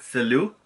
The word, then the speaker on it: salut: So most of the endings are silent, like the T's, like salut. Salut has a T, so it's SALUT, but you do not pronounce the T like salute, okay?